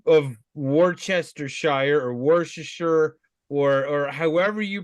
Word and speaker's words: Worcestershire: could be completely wrong I've heard Worcestershire Worcestershire but I yeah it's definitely looks like War Chester Shire but it could be